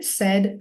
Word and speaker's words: said: Just want to highlight too that that has an irregular pronunciation. We did pay, paid, paid. That's that same ending there, but here we're saying say, said, said.